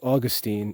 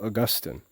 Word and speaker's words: Augustine: say Augustine and Augustine in academic circles it's usually pronounced Augustine and in religious circles it's usually pronounced Augustine Monica had in mind